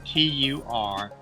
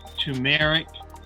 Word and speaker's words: turmeric: to pronounce the word t-u-r-m-e-r-i-c and there are three ways and they're all correct one way is tumeric or turmeric people tend to leave that first r out tumeric turmeric or turmeric